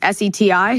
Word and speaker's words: SETI: Is active, it's not SETI, it's S-E-T-I? SETI, you can pronounce it, yeah.